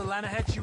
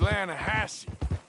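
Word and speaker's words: Lannahechee: the right here I rode down to the Atlanta Hatchi River I caught some View beautiful steelhead drought you made an Atlanta Hassey River no no no no no no no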